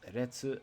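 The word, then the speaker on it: 烈: It can also be pronounced retsu as in kyoretsu.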